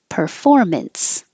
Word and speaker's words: performance: Performance. I put two versions. This is ints, and this is unts. Doesn't matter because it's not stressed.